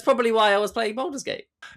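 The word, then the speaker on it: Baldur's Gate: Oh, I'm sorry if I've mispronounced the name wrong. Jose, what's the name? Boulders Gate.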